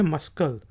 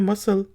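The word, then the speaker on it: muscle: एल ई डी मसल मैंने बहुत से लोगों को यह देखिए है कि इसको पड़ते हैं मस्कल लेकिन जवाब बात करते हैं तो कहते हैं मसल मसल पट्ठे को कहा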